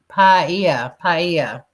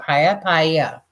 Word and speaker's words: paella: Paella. That's how you pronounce it. Not paella.